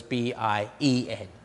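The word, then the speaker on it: 边: Secondly, Y plus AN isn't yan, but is pronounced yen. And so we have the word, say, bian, as in pang bian, is spelled B-I-A-N, but is pronounced like as though it was B-I-E-N.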